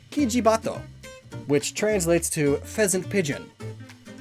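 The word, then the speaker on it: キジバト: This one is a bit more complicated though, so to severely simplify things, the Oriental turtle dove's Japanese name is pronounced, roughly, Kijibato, which translates to pheasant pigeon.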